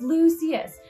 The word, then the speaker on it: Lucius: today's video super exciting it is lucious or i say lucious and people give me heck on here for that i've had comments like it's not lucious it's lucius um fine but like everybody pronounces the names differently so i'm gonna say it's lucious malfoy's cane if it's lucius malfoy to you that's fine too um don't come at